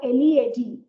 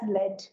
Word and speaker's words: lead: Depending on the part of speech, the pronunciation will be different. For example, if it's a noun, you pronounce it as led. If it is a verb, you pronounce it as lead.